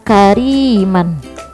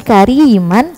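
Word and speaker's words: كريما: Kita masuk ke contoh, misalkan contohnya kariman, dia tulisannya kariman, tapi karena dia adanya di akhir kalimat, jadi dibacanya fathah tanwinnya kita hapus, jadi satu aja dibacanya karima, jadi cuma satu, karima, bukan lagi kariman tapi karima.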